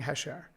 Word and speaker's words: Khash: so it's spelled k-h-a-s it's pronounced phonetically h-e-s-h so it's hesh the k is silent the a is like an e um i'm a first